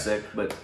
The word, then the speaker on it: Sikh: I have too, but I believe I think the more common sick. Original pronunciation is Sikh.